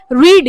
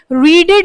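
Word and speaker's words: read: बस प्रोनाउंसिएशन अलग रहता है। रीड रेड रेड होता है। यहां पर कुछ बच्चे क्या करेंगे? रीडेड रीडेड कर लेंगे। वो रीडेड रीडेड मत करना बस देख लेना।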